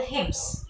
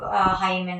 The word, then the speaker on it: hymns: Please note down this, the pronunciation as well, hymns. It's not hymen or something, it's hymns.